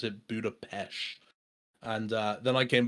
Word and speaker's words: Budapest: actually it's it says Budapest but apparently you pronounce it Budapest and uh then I came back and I